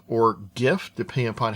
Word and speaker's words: GIF: types we have the gif or gif depending upon how you want to pronounce it the the person who came up with that format said it should be pronounced with a j sound gif everyone else pronounces it